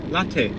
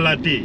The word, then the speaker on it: Latte: You're pronouncing right. Like a coffee. Latte. Mr. Latte.